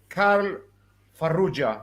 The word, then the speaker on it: Karl Farrugia: His name is Karl Farrugia, if I'm not mistaken. Yeah, it's like that. Okay, so you pronounce it the Italian way, right?